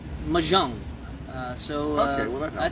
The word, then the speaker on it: mahjong: It's pronounced mahjong.